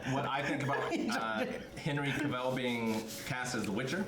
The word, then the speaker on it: Cavill: It's pronounced travel. Cavill.